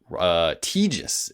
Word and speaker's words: Tejas: This email comes from Tejas is how you say his name.